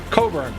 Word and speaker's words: Cockburn: to live in perth called cockburn pronounced coburn i would never pronounce